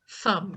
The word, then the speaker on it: thumb: Thumb. Thumb. Okay. Con el medio de los dientes.